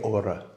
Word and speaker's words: hora: and it's a qué hora. So when you're asking it as a question, it's a qué hora. Hora, you don't pronounce the H in Spanish, but the rest of it is really, really straightforward.